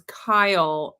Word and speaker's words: Keel: Miriam said that his name is Kyle, but Oh, it's spelled Keel.